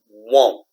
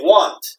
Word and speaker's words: won't: Okay, I hear some of you say want. Okay? It's not want. It's not want. Okay? It's like I want something. It's not want. It's won't.